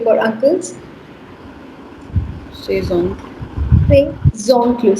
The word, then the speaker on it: ses oncles: Say zoncle. Say zoncle. Now the z sound is shifting and it becomes zoncle.